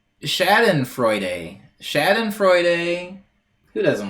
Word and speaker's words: Schadenfreude: It is pronounced Schadenfreude.